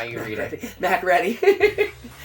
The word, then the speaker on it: MacReady: MacReady. It's definitely pronounced MacReady. It's pronounced MacReady, but it looks like MacReady.